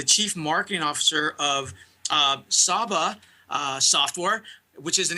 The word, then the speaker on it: Saba: So Emily, you are the chief marketing officer with is it Saba? Am I pronouncing it correctly?